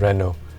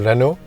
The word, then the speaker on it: Renault: Of the 4 engines, obviously Abang Grepfud is going to choose Renault. I mean, Abang Grepfud, for his Grab car, drives a Renault.